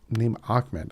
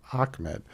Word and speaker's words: Ahmed: And yes, you pronounce his name Ahmed. I know there's no C in there. But go look up how to pronounce his name. It's actually pronounced Ahmed.